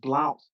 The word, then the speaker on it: Blount: It reads, Governor, the governor offered Chief Blunt, who was friends and family with the colonist Blount family, which was spelled Blount. Chief Blunt is spelled Blunt.